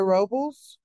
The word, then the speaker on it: Robles: I think that's, Miss Robles. Great day, Queens and Kings. It's Robles. No worries. It's always pronounced Robles or anything other than what it is.